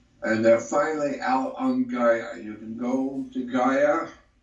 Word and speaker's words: Gaia: on Gaia.